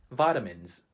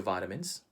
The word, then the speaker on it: vitamins: How do Filipinos pronounce that word? We would say vitamins. Vitamins. Have you already taken your vitamins?